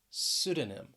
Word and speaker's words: pseudonym: that second syllable pneumonia then we have pseudonym pseudonym the stress is on the first syllable this time pseudonym and sometimes yeah if